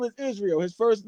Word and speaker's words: Israil: His name is Israel.